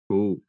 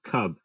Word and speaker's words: kub: Like if I say I want something, like I say "kub," and that's spelled Kub. And you like you Oh, would read it, you would say like cub, but we say "kub."